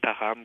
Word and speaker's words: Notre-Dame-du-Lot: c'est un vrai village, c'est une façon dont prononcent les gens le nom Notre-Dame-du-Lot, qui est une région donc au nord de l'Outaouais. Et donc Notre-Dame-du-Lot devient Taram quand on dit rapidement avec un certain accent.